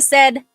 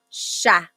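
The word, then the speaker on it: siya: Okay, Janica said okay. So I think Janica is asking about the pronunciation of sha.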